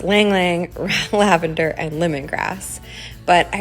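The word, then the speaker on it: ylang-ylang: floral essential oil blend that I offer with a long long lavender or rather it's pronounced ylang ylang lavender and lemongrass but I really hope you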